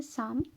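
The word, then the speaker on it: psalm: क्या बोलते हैं, तो इसका राइट आंसर है साम। पी साइलेंट है यहाँ पर।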